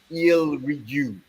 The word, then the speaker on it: Eelrigjue: They put this album together in 2014 called let me just spell it: EELRIGJUE. Ilrigu.